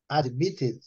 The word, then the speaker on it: admitted: Admitted. Aqui eu separei a sílaba para ficar mais fácil. Admitted. Fica 3 sílabas. Admitted. Né? A sílaba forte é o mit, né?